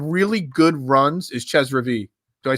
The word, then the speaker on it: Reavie: Is Ches Reavie. Do I say his name right? Reavie? Ches Reavie.